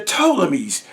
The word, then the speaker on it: Ptolemies: The P is silent. Like the G is silent in lasagna. Shout out to Lil Wayne. The Ptolemies. P-T-O-M-O-L. However, Ptolemies or Ptolemy. P-T-O-L-E-M-Y. Ptolemy. And the Ptolemies, P-T-O-L-E-M-I-E-S, the Ptolemies.